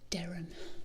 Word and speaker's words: Durham: a hill um but the durham derem they pronounce it durham um i definitely